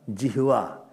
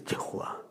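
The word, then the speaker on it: jihvā: It is not jihva, it is jihva. Half her should be there. Jihva, not jihva. Generally they don't pronounce.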